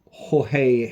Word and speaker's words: Jorge: That there is the main cover from George Jimenez, or Jorge Jimenez, as people like to pronounce it.